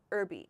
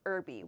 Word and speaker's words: herby: Herby. In American English, we say herby. We do not pronounce this H at the beginning.